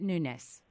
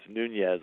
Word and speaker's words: Nunes: pronouncing your name correctly is it newness newness is correct that's right a lot of people so it's it's actually an interesting name so a lot of people think it's Nunez which is the Spanish version of my name except that my family is from Portugal actually days or islands so the way we've Americanized it is newness and it would be